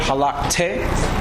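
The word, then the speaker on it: הלכת: Now that word halakte, it's a double shawaf, right? So you give it, it's not really a vowel, but you give it a soft sound.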